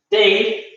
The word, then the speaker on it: their: Que de la pertenencia sería, se escribe T-H-E-I-R, their, ¿ya? Pero, como les decía, recordar que las TH por lo general se conocen como la D de dedo y se pronuncia their, ¿ya?